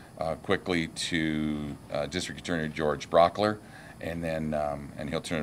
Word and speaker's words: Brauchler: questions George good morning my name is George Brock ler last name is spelled B ra u CH l ER I'm